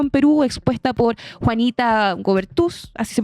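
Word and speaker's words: Goebertus: A ello se suma la advertencia internacional sobre el deterioro democrático en Perú expuesta por Juanita Gobertus. Así se pronuncia, Camilo. Gobertus.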